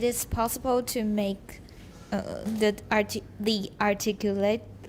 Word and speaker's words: articulatory: The A is not pronounced. Flaps are typically retroflex articulations, but it is possible to make the articulatory Articulatory.